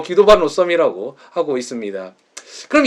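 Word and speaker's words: Guido van Rossum: 아저씨 인데요 어 네덜란드 사람인 에서 원래 내 휘도 반 로섬 이라는 게 발음이 더 봤는데 이탈리 어마 름으로 귀도 거든요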